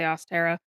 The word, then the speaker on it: Ostara: So or Aara, however you prefer to pronounce it. I say Austera.